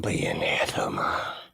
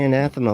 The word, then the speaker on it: anathema: be that's anathema why why do you say anathema like that Ray say anathema normal okay you're how I'm saying it that's how people say anatha that's the right way to say the word not the way you said it that was the wrong